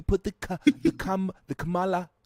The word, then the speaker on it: Kamala: you sound like Trump mispronouncing her name is pronounced kamla okay that that was GMS it's it's Cala that's all we're going to say it's Kamala I'm saying it the way her National or